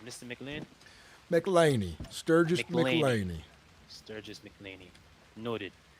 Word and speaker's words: McLainy: Is that how you pronounce Mr. Mlin? Mlaney.